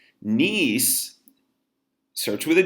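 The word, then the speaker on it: gneiss: foliated metamorphic rock is nice nice search with a G you don't pronounce the G but G and you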